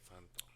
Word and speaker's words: Santo: That's how you say it, Santo. Not bad. Pretty decent. Like Santo Domingo.